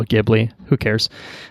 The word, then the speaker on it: Ghibli: usually pronounced gbeary well in the West it is more commonly pronounced Gigli or Ghibli so I think I've been going with the latter pronunciation on my end or we can call it Ghibli who cares it's fine